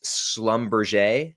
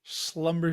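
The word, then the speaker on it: Schlumberger: I've been getting a lot of heat for my pronunciation of this. So, apparently it's Slumber. Slumber.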